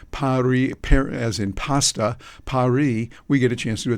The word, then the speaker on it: Paris: The final S is silent.